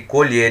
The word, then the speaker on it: colher: a colher observam que colher e colher a escrita é a mesma mesma escrita não muda nada mas é pronúncia diferente totalmente diferente colher é uma pronúncia fechada e colher ela pronúncia aberta isso não vem ao